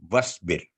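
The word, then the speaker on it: واصبر: वस्बिर, तो क्योंकि अलिफ के बाद स्वाद पर सुकून की अलामत है तो अलिफ साइलेंट हो गया। वस्बिर।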